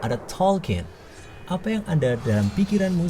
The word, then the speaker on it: Tolkien: Tolkien, diucapkan Tolkien, yakni film luar biasa tentang J.R.R.